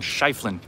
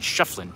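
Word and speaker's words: Schieffelin: I was informed earlier I was pronouncing his name wrong. I was saying Shiflin. I'm told it was actually Shefflin, but either way, he was the founder of Tombstone.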